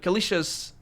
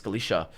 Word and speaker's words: Calisca: pregnant she was calisca kaliesha's it's not it's written calisca but it's not it's kaliesha it's pronounced kaliesha she was kaliesha's daughter